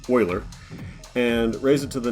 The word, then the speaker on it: Euler: logarithm we just take e euler's number actually pronounced euler and raise it to the natural log of